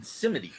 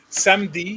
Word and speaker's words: Samedi: But with the way the Creoles say it is they don't say it like French. They don't say samedi. They say samedi because there's an E in the middle. So they say samedi, right?